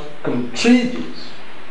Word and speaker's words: contribute: Stress type 2, we have the word contribute. Contribute. In that case, the stress falls on the second syllable.